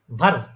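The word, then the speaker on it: wer: ভার ভার ভার হ্যাঁ শুনেন বান একদম ভে না এটা উচ্চারণ করার সময় আপনার নিচের ঠোঁটের মাঝখানে আপনার উপরে যে দাঁতগুলো আছে সামনের ওগুলা লাগাবেন লাগায়ে নিচের ঠোঁটটা একটু নিচের দিকে ব্যাখ্যা করে তার উপর উচ্চারণ করবেন যেমন ভার ভার ভে ভে আপনারা উচ্চারণ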